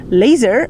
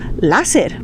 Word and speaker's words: láser: Por eso, en lugar de decir laser, nosotros diremos láser. ¿Por qué? Porque el laser está escrito con una letra A, entonces vamos a pronunciar lógicamente láser.